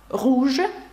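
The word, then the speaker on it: rouge: якщо перекласти на українську руж Ну і вам зрозуміліше чому не читається наприкінці тому що це таке правило Ну і звук у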